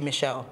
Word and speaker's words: Michel: I call him Michelle, or you call him Michael? It's Michael, isn't it? Is it Michael or Michelle? I don't know. Is it Michelle? It's spelled as M-I-C-H-E-L. Then it must be Michelle.